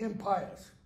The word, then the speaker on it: impious: It is impious. What's the next word? Stubbornness. What does it mean to be impious? It's one, another pronunciation is impious.